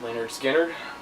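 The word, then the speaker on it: Lynyrd Skynyrd: first thing i got here is leonard skinner pronounced leonard skinner yeah it's it's yeah a lot of these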